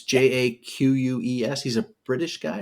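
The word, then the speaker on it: Jacques: By Brian Jakes, is that how you say his name? It's Jaques.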